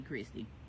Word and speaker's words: Kirsti: Now it is spelled Kirsti, but you know some people be so fancy, they mamas be having other things in mind. Her name might be Christy, but we're gonna call her Kirsti because that's how it's spelled.